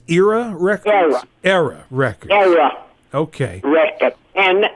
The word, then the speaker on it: Era: Now, I know in your recording career, you recorded for RCA Victor and also, is it pronounced Era Records? Era Records.